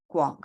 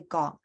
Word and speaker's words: 國: I won't say is the go and the guo, like the GW. So GWOK, yeah, the guok for country, right? Guok should be Guok, GW. Yeah, but a lot of people just say gok, like 中國, yeah, 美國. That's lazy pronunciation.